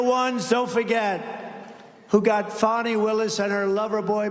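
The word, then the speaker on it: Fani: have to pronounce it fonny it's called Fanny you have to pronounce fonnie I don't know how she get she should add a little u in there someplace if she wants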